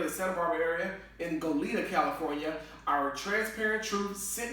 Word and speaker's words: Goleta: Is that how you spell it? Yes. Say it? That's Goleta, yep.